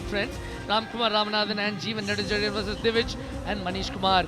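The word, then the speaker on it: Nedunchezhiyan: Have I pronounced that correctly? Because I know that you know the language, Neduncherian.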